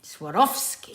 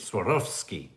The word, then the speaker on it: Swarovski: tragic obviously francesca bastos the w and swarovski comes from the german pronunciation in german read w and v because the v usually sounds like f swarovski swarovski swarovski imaginary jasmine that's hard